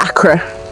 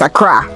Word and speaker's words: Accra: so gar is from accra and which is the capital of uh ghana it's not akra for all you people trying to bastardize the pronunciation of the name is accra just god we got that